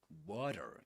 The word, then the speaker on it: water: In American English, we call that a flap T. A flap T in water. We say this is a a flap T, which means that it's pronounced just similar to a D sound.